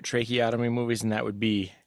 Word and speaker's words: tracheotomy: There's choking with a tracheopathy. Is that what it's called when you stab, not the throat, like right here? Tracheotomy.